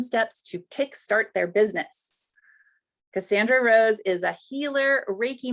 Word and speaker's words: Cassandra: Cassandra, it's perfect.